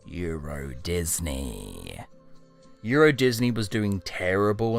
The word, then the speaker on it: Euro Disney: Turns out they read the sign wrong, and Eurosdeny is actually pronounced Euro Disney.